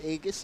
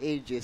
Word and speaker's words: Aegis: And with Aegis on, Aegis pala, I'm sorry, Aegis. Aegis. May tamang pronunciation na daw sabi ni Val.